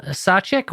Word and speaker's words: Sacek: twitter at mvp uh klein k-i-n-e-n-v-p k-i-n-e sachek welcome to the show hello hi hey now